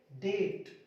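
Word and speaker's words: debt: डेट, shuttle, डेटर, डेटर। यहां पे टी से पहले बी को साइलेंट करना है।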